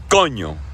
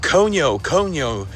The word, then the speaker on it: coño: Now, one of the most common, mispronunciations of the word coño is coño. People break it down into 2 syllables. Oh, coño, and they try to curse it out. Oh, what happened there, coño? No, it's one word, coño.